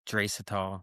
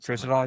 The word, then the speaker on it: Draisaitl: I think Draisaitl. Draisaitl, yeah.